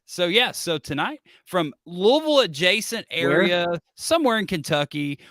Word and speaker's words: Louisville: home of the Sluggers it's Louisville like like many people say like you have to say it like you have marbles in your mouth but you know that